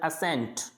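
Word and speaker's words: ascent: जैसे एस सी, एस के बाद में सी आ रहा है तो इसको बोलना है असेंट, क्या बोलना है, असेंट, यानी सी को नहीं बोलना।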